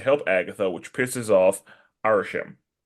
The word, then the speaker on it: Arishem: They talk, and Kingo decides to help Agatha, which pisses off Arishem. Pronunciation check, because I think that's how it is. Arishem.